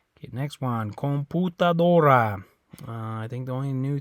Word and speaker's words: computadora: Computadora. Okay. Yeah, in English that makes a U sound right there, right? Computer. But in Spanish it's an U sound.